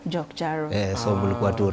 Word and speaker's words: JokJaro: Ukisema moja ni J-O-K. Oh. Ukisema zote mbili ni JokJaro. JokJaro.